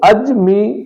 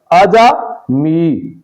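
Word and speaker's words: عجمی: عربی درست تلفظ ہے۔ اسی اصول کے مطابق اجمی، جیم پر زبر ہے، اس لفظ کو اجمی پڑھنا یعنی جیم پر زبر کے بجائے جزم ادا کرنا اور جیم کو ساکن پڑھنا غلط ہے، تو اجمی غلط، اجمی درست تلفظ ہے۔ اسی طرح یہ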